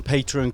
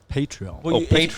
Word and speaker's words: Patreon: do you say it patreon if you're a padre you're a patron if you're on patreon yeah you're a patreon but i haven't heard